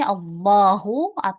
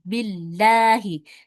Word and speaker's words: Allah: Kalau tebal atau tafkhim dibacanya l ya dibacanya ya. Ada o-nya ya. Itu ketika di awal kalimat ya seperti ini. Allahu ketika huruf sebelum lafaz Allah adalah huruf yang berharakat fathah.